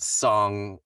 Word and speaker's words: Tseng: as Song is, and I know some people pronounce it Tseng, but in the game it's called Song, so I'm going with Song.